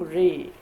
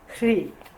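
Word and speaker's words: hrīḥ: But here, they have added the seed syllable in the end. So in this sadhana we say Om Mani Padme Hum Ri. Hri.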